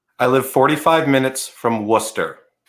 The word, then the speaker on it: Worcester: jason come again i live 45 minutes from worcester you pieces of ruby rubio had it right the entire time every single time every single time it's worcester okay um interesting you know our rce i'm